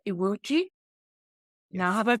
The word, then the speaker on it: Iwuji: And today we have the winner of this year's World Media Award, The Rising Stars, and who is Iwuji. Yes. Now, have I pronounced that correctly?